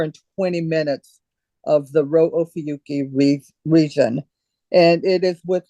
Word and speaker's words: Rho Ophiuchi: And you also have a cool shot of I never know how to pronounce it. Rho Ophiuchus. Rho Ophiuchi.